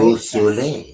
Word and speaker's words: Beausoleil: I wasn't doing a great job at the French pronunciation of your name, Nicole Beausoleil, correct? Correct. Was that right? Beausoleil.